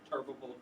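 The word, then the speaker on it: Turbeville: the uh city of turbiville this is turbiville you would never pronounce it that way but that's how Southerners pronounce it tural t r v v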